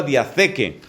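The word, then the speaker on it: διαθήκη: se dice en griego diatheke. Theke se escribe con TH y eso va con K.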